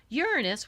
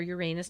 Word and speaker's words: Uranus: Uranus, which is a farther out planet, or Uranus, depending how you pronounce it, is the planet of chaos but awakening.